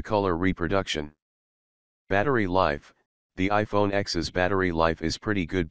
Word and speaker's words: iPhone X: for the iPhone the iPhone X although it's pronounced 10 was the redesigned Apple